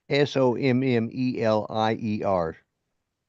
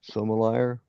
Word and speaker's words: sommelier: Justin, SOMMELIER. Sommelier. Sommelier. It's French.